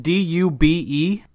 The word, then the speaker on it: Dube: Okay, so, and then your last name, is it D-U-B-E? That's correct. It's pronounced Dube.